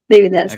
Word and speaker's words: Devi Dasi: Am I pronouncing that right? Yes, Hema Rupini Devi Dasi, Okay.